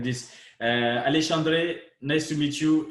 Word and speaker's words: Alexandre: But the way we say my name in Brazil is very hard for people from other languages to replicate. Is Alexandre. Alexandre.